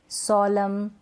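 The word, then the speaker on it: solemn: तो ये जो स्पेलिंग्स है ना, यहाँ पर एन से पहले लास्ट में, स्पेलिंग के लास्ट में क्या है, एन से पहले एम है, इसलिए हम एन को प्रोनाउंस नहीं कर रहे हैं।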